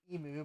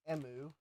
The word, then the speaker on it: emu: I'm trying to remember how Bruce told me that it's uh pronounced because Americans don't usually pronounce the bird correctly. We like to say emu, but I think it's emu.